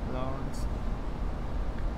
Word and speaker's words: Lawrence: And we don't pronounce a W? Uh-huh. Lawrence.